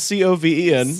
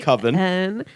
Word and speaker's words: coven: Spelled C-O-V-E-N. The word is pronounced Coven. But he pronounces it Coven because Coven sounds too much like oven, man.